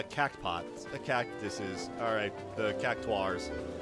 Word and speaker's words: Cactuar: Alright, the cactuars. Yeah, cactuar is apparently how it's pronounced. Not cactar, but whatever.